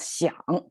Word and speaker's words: 想: So it was 香 by itself, but when it used together with heart, it becomes 想.